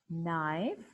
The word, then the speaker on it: knife: K is silent as in no, knife, night, knee.